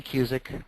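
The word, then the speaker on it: Kusic: my name uh cusic r o d NE Y and then cic is spelled Just Like Music only with a K instead of an m so k u s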